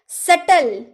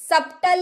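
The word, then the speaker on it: subtle: doubt यानी कि संदेह सटल सबटल नहीं सटल सटल यानी कि जटिल तो बी वर्ड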